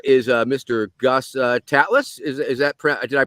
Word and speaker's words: Tatlas: wonderful guest here is uh Mr Gus uh tatlas is is that did I pronounce that right yes you did all right